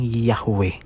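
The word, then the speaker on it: Yahweh: o hindi po ie binabanggit po yan ng yahwe at ang panghuli ay bangg po ng yawi yawi yawi sa susunod na bales naman po ay binabanggit po ito ng y yahwe yahuah yahwe yahuah at sa susunod naman po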